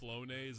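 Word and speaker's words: Flonase: Flonos. I don't even know what that is, honestly. Mommy's special nose medicine. And now my neighbor thinks I do cocaine. Okay, apparently it's pronounced Fllonise and it's just allergy relief medicine.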